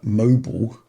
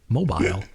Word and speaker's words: mobile: is including uh mobile as your North American types pronounce it even though it's got an i in it and an e at the end my goodness it should be in long I mobile yeah and uh uh